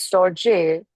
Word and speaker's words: storge: Pronounced storge.